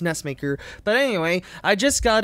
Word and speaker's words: NESMaker: I Just Got NESMaker Or NESMaker It's Actually Pronounced NESMaker But Anyway I Just Got It I Just